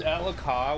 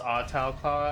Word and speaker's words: Ahtal-Ka: There's Ahtal-Ka which is like it's spelled like it's pronounced Ahtal-Ka I think. I always called it Ahtal-Ka.